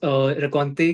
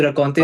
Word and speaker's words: Rencontre: कि रकौंते रखना है, बिकॉज रकौंते का प्रोनाउंसिएशन भी अलग अलग है। इंग्लिश में हाँ, अलग। रकौंते लोग अलग तरीके से बोलते हैं, फ्रेंच में क्योंकि आर का साउंड उनका मिसिंग होता है, तो वो आर के साउंड को हाँ, मिसिंग